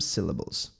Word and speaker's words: syllables: Is to stress some syllables. É acentuar, pôr a ênfase em algumas sílabas. Syllables. Syllables. Esse S vai ter som de Z, ó.